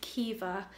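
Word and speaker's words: Caoimhe: She's 4 weeks old, and my boyfriend's brother has just announced that she is called Kiva, which is beautiful. It's a Gaelic Irish name. It's spelled C-A-O-I-M-H-E, Kiva, and I love it.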